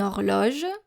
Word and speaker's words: horloge: Une horloge, a clock.